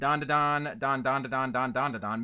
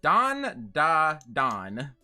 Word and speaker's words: Dandadan: you have not seen D Don D Don maybe I'm thinking of davar cuz darar also has a d and repeating syllables but it's don da don okay but I will